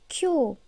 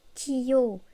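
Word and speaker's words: きょう: Ça se prononce kyo et non kiyo. C'est comme le kyo de Tokyo ou Kyoto.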